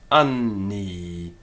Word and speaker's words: anni: Now, we don't necessarily have to break it, anni. A Roman would not have done that. But what you would do is find a definite weighting of that n to both syllables, anni.